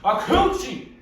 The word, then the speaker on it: acouchi: A coochie.